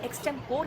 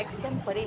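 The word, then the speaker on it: extempore: इसको हम कहते हैं एक्सम और पी ओ आर ई को कहते हैं पोर। जब बिना प्रिपरेशन का भाषण देते हैं तो लेकिन ये एक्सटें फोर नहीं है। ये एक्सटें परे है।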